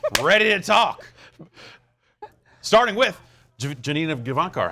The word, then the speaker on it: Janina Gavankar: Starting with Janina Gavankar. How you doing? That's a lot of did I pronounce that right? It's a lot. It's a lot. It's Janina. Janina Gavankar.